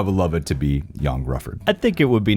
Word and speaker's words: Ioan Gruffudd: Ioan Gruffudd. Gosh, he really should spell it differently.